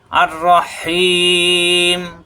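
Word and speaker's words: الرحيم: আর রাহিম পরম করুণাময়।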